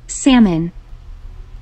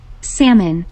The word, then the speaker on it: salmon: Salmon. Salmon. 여기 가만 보니까 이게 발음이 Salmon이면 여기에 써놓은 글자 중에 누군가 하나가 소리를 안 내고 있는 것 같은데?